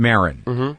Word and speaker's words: Maron: the same last name yes you're Moren is that how you say it that's right yeah and I'm Marin for years when I